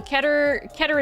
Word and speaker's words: Keter: I also thought it was pronounced Keter, but I looked it up because I was like, what if I'm pronouncing this incorrectly and then people laugh at me? So I looked it up and no, Keter is Keter.